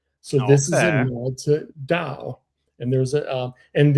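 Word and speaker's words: Tao: these chili waters right and it's in the dao um national forest is spelled to but it's pronounced dao in Chinese and do in Japanese Right.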